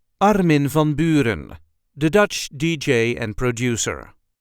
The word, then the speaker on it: Armin van Buuren: correct Dutch pronunciation is Arin vonin there is a slight emphasis on the first syllable of the first name and also on the first syllable of the last name Arin Von I hope